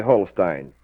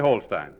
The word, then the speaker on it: Holstein: I heard some fellows down at WHO arguing the other day about whether it was Holstein or Holstein. I think correctly Holstein. You think correctly Holstein.